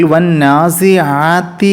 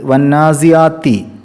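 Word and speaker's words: وَالنَّازِعَاتِ: സംഭവിക്കാൻ സാധ്യതയുള്ള സ്ഥലങ്ങൾ നോക്കാം ഒന്നാമത്തെ ആയത്തിൽ വന്നാസി ആത്തി എന്നുള്ള അനിന്റെ സ്ഥാനത്ത് വന്നാസിയാത്തി എന്ന് അൻ അല്ലാത്ത രൂപത്തിൽ ഉച്ചാരണം വരുന്നത് ശ്രദ്ധിക്കണം വന്നാസിആി അനആണ് അത് ആത്തി എന്നോ ഹാത്തി എന്നൊന്നും ആവരുത് അതുപോലെതന്നെ ഹർക്ക എന്നുള്ള ഹൈനിന്റെ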